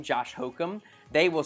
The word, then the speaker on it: Hocum: always like your last name because it's very close to hokum and actually it's so funny uh a lot of times when when like i tell people my last name josh hokum they will spell it